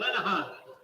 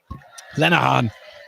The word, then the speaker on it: Lenahan: Your goal scorer for Middlesbrough FC tonight, number 26, Donald Lenahan. Lenahan.